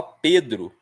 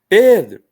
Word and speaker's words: Pedro: Como o meu nome é composto, quando chamam só Pedro, né? Pedro, eu escuto e. Então eu sei que P é a sílaba tônica.